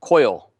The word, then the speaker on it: Coyol: And it's more the pronunciation. That Alec Bradley stick I was smoking the other night. It's Coyol. The Coil.